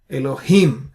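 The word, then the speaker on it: אלהים: Elohim, him has an accent. Therefore, you stress on it. You say Bereshit bara Elohim. So that's the stress on the last syllables in all these three cases.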